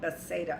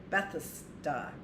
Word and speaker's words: Bethesda: We've always called it Bethsaida, I think, but that doesn't look like the pronunciation. Looks like Bethesda.